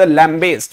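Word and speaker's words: lambaste: इसका जो प्रोनाउंसिएशन है वो बड़े ध्यान से देखिएगा. इट is called लैम्बेस्ट.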